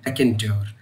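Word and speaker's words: raconteur: इसकी सही प्रोनाउंसिएशन है रैकेंट्योर।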